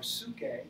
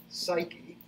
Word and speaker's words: psyche: the greek words are suke that's how it's pronounced in greek in ancient greek we're talking about the